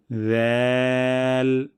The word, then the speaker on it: ذال: জিহ্বার আগা এবং সামনের উপরে ২ দাঁতের আগা থেকে পাতলা সাউন্ডে উচ্চারণ করব। ذال ذا ذا ذال।